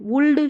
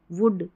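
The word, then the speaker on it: would: इसको हम cooled, वुल्ड, शुल्ड नहीं पढ़ते, हम पढ़ते हैं कुड, वुड, शुड, ऐसे।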